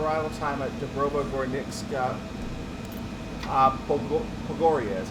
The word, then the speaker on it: Pogoria: Pogoria is how you say that. Pogoria.